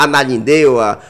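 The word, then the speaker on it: Ananindeua: Muita gente tem essa dificuldade de pronunciar a Nanindeua, né? Fala ananindua a Nunindua. Mas é ananindua e é difícil de pronunciar para quem não conhece, realmente.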